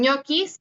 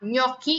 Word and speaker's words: gnocchi: Y eso es un ejemplo, gnocchi, ustedes le dicen ñoquis, pero sería gnocchi y se escribe de esta forma, ¿ok? Y sigue siendo justamente un sonido palatal, ¿ok?